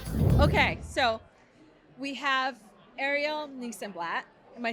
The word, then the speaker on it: Nissenblatt: Okay, so we have Ariel Nissenlat. Am I saying your name right? I say Nissenlat sounds like this and that, but like I cannot be the judge of how people say.